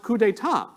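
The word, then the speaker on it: coup d'état: their reply was oh gosh that's awful it's pronounced coup d'etat it's like no you're missing the point and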